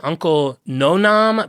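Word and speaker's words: Uncle Noname: He had a tongue in cheek company called Uncle it's supposed to sound Hawaiian Uncle Nonam but it's spelled no name because his name was taken away from him.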